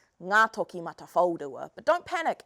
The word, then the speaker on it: Ngātokimatawhaorua: So I'm going to teach you how to say the name Ngā Toki Mata Whaurua.